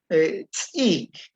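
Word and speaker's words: ts'ik: Es un sonido como aparentemente más suave que la T glotalizada. Tsik. Pero igual hace presión detrás de los dientes para que salga el sonido.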